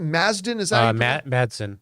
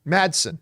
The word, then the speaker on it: Madsen: how do you pronounce is it mazdan Madsen Madsen sorry and he said oh